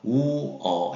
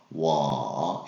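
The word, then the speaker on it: 我: 그 다음에 나를 가리킬 때는 중국어로 우어 해서 워 이렇게 하시면 되겠어요.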